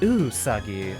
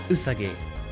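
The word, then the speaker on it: うさぎ: ah okay additional information japanese names have equal stress on each syllable it's not usagi nor usagi it's just usagi so there we go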